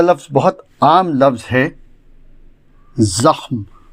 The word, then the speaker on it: زخم: بہت عام لفظ ہے، زخم، جو درست ہے مستعمل زخم ہے، جو غلط ہے۔ اس کے معنی ہیں گھاؤ، ناسور، نقصان، ضرر۔ اس کے مرکبات بھی ہیں، زخم کاری یعنی بہت مہلک گھاؤ، زخمی یعنی گھائل، زخم اچھا